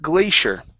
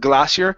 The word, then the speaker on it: glacier: good next up is the word glacier okay uh Glacier Glacier good so instead of glassier so we say with